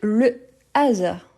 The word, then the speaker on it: hasard: Donc, c'est le hasard. Le hasard. C'est un H aspiré.